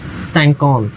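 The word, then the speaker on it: cinquante: 50 sounds like सैंकौंत, सैंकौंत, ये लिखा है मैंने, सैंकौंत हिंदी प्रोनाउंसिएशन।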